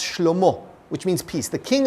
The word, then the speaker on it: Shlomo: His son, Solomon, which in Hebrew is pronounced Shlomo, which means peace.